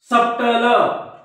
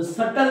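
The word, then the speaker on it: subtle: बी हा सायलेंट असतो मग ज्या मुलांना माहित नाही हा ते कसे वाचतील डेप्ट डेप्ट डाऊट डाऊट सप्टल पण हे सप्टल नाही हा शब्द सटल आहे काय आहे सटल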